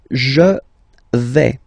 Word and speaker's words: je vais: The first form is je vais. Okay, so remember, final S not pronounced here. Je vais. Okay, when you combine this A-I, you get the sound A, really open, okay?